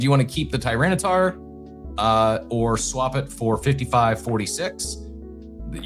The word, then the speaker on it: Tyranitar: I was waiting for you to try to pronounce that. Tyranitar, I nail it?